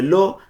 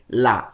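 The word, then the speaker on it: gli: এটার উচ্চারণ ইতালিয়ান হবে লি।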